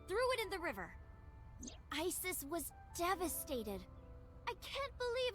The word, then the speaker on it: Isis: Horace's mom is named Isis, but in ancient Egyptian, it's pronounced closer to Iset or Aset.